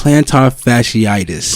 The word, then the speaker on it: plantar fasciitis: the whole planet how do you say plantar plantar fasciitis plantar fasciitis perfect right so i'm like no this is